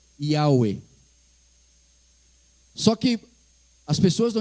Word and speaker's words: Yahweh: Dessa forma ali, são 4 consoantes hebraicas, um Yud, um Rei, um Vav e um Rei. E se costumou dizer que a pronúncia disso seria, em português, seria essas letras ali, né? O Y, o H, o W e o H. E se convencionou dizer que foi Yahweh.